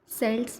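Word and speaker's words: Celts: इनको हम pronounce pronounce सेल्ट्स भी बोल सकते हैं और के्ट्स भी। बट हम इनको के्ट्स ही बोलेंगे।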